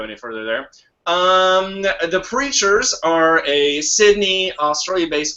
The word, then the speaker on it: Preatures: the band's names because it's not as it sound it's it's like it's spelled like uh creatures but with a p in Fr so creatures